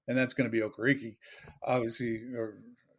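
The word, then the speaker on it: Okereke: not day ball uh also he pronounces okariki so maybe the kid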